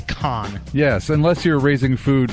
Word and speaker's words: Cannes: reference there you go S is silent although it is spelled CA in NES it's con yes unless you're raising